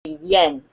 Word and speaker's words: yen: uh we're pronouncing English the Y is pronounced a y sound so it's a Yen Yen yes good okay so